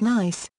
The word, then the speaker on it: NICE: received favorably by all ni SI e often pronounced nice is the National Institute